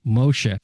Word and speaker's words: Moshe: diseases so let's get started this is Dr mosha it's great to see you glad you're on the show I'm going to say it again Moshe beautiful like top top marks for pronouncing my weird name thank you well I